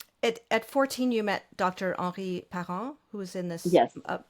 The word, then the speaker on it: Parens: And he pronounced it, that was his name, but he pronounced it Henri Parens.